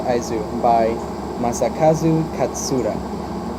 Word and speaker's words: IS: between the Ayane so but it's pronounced Isis by my ex-husband cats